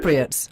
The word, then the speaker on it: Cypriots: It's a beautiful place, and the people, you say the Cypri? Is that how you say it? Cypriots, or in Greek they say Kypri, yes.